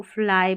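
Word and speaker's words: fly: फिर यहाँ देखिए इस Y को E भी पढ़ते हैं, इस Y को I भी पढ़ते हैं, लेकिन छोटे छोटे स्पेलिंग में ज़्यादातर इसको I पढ़ते हैं, तो इसको फ्ली नहीं पढ़ना, आपको फ्लाई पढ़ना है।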